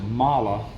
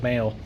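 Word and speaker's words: Mahle: they pronounce it Mala, even though it ends with an E. Yeah, I thought it was male. Yeah, and some people call it Molly.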